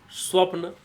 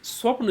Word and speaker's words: स्वप्न: समझ में आना चाहिए स्वप्न होता है स्वपन नहीं होता है सपन नहीं होता है सब